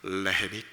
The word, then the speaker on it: 레헴: 레. 에햄이 아니고요. 레헴. 많이 들어보셨죠? 어디서 들어보셨나요? 베들레헴. 네. 그 베들레헴은 정확한 히브리어 발음으로는 베이트레헴입니다. 베이트가 집이고요. 레헴이 떡입니다.